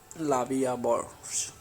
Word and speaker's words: La Vie en Rose: La Vie en Rose, literally life in prank, French pronunciation La Vie à Bord, French L'amour, is a